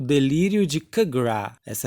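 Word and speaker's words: Capgras: E é o delírio de Kagra, essa é a pronúncia.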